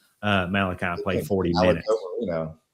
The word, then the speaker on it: Moreno: You can't have a guy like Malachi Moreno Malachi play 40 minutes. Moreno. Can you roll your R's?